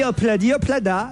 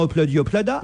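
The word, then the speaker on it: Ob-La-Di, Ob-La-Da: and pretty bladblada mon réalisateur m'a dit qu'on disait pas hlad hada je sais bien qu'il y a un B j'ai le titre devant les yeux Jean-Luc donc je sais que ça s'écrit Obladi Oblada mais moi j'ai toujours dit hladi hlada donc voilà et quand il chante on entend opladi oplada moi j'ai entendu opladi oplada ah merci mais tu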